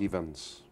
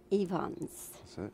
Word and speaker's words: Ifans: on a yeah and the last name is pronounced events events very good is that rhys yvonne